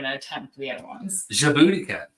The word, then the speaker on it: Djibouti: Djibouti cat. It's not my booty, it's Djibouti.